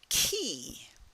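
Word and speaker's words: Chi: right that's followed by key it's like a key that opens a door key and uh in the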